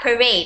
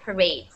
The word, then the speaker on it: parade: parade okay parade yeah parade exactly people are saying it parad it's not that it's parade okay parade so in a parade